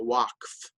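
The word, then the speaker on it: waqf: the Muslim religious authority known in Arabic as the walk which is spelled in English w AQ F is in charge of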